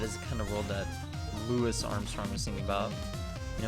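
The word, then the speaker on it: Louis: is the lewis armstrong not Louie Armstrong despite what people might say and I know that because he is actually said I am NOT French so as Lewis although Louie would be the French pronunciation and probably the proper one from mr. Armstrong it's a Judas good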